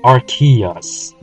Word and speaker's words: Arceus: about it I don't care if the official pronunciation of its name is arus Aria sounds cooler and that's what's original pronunciation